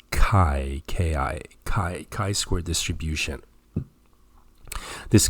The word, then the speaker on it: chi: notice please the pronunciation c-h-i i know it seems like and it's may even be tempting to pronounce this as chi but the correct pronunciation is kai ki chi square distribution